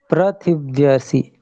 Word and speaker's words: पृथिव्यसि: ये जैसे उच्चारण आया पृथिव्यसि, तो पृथिव्यसि, इसमें री इस प्रकार का उच्चारण आएगा, पृथिव्यसि।